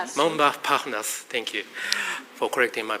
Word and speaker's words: Montparnasse: By the way, this morning I was walking from my hotel to this area, passing through this area called Montparnasse. Montparnasse, thank you for correcting my pronunciation.